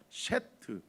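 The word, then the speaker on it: שת: 셰트. 그러니까 여이 셰트라고 발음하면 될 것 같은데요.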